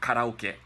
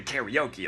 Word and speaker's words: karaoke: for example spanish-speaking countries it's not going to be karaoke you know it's karaoke some like weird English Way of saying cut out get cut out get changed into karaoke like teriyaki you know